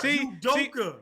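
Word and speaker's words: Udoka: Udoke.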